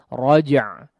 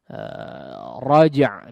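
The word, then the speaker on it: رجع: Raja' di situ ada qalqalahnya, raja ya, huruf jimnya ada qalqalahnya, maka perlu ditunaikan.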